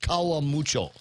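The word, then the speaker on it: Karamucho: string potatoes and garlic chips that that's actually pronounced Kawa mucho Kawa mucho uh the Kawa is is spicy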